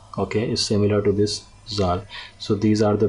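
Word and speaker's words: ذال: Okay, in Urdu we pronounce it as zal. Okay, zal, Z-A-L. It has a sound of zal or z.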